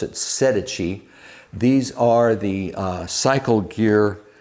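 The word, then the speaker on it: Sedici: correct me my italian-speaking friends but uh they pronounce it sedechi these are the cycle gear brand and very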